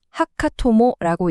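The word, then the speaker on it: 墓友: 화면에 보이는이 두 글자 하카토모라고 읽습니다. 묘지할 때 묘, 친구할 때 우, 말 그대로 무덤 친구라는 뜻인데요.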